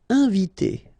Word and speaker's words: inviter: Inviter. Okay, I-N together, nasal, inviter, inviter.